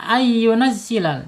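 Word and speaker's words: أَن يُنَزِّلَ اللَّهُ: Ya, dibacanya ayunazzilal enggak boleh baca an ya.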